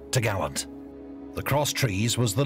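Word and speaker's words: topgallant: cross trees which secured the top Gallant Mast pronounced to Gallant the cross trees was the lookout's position there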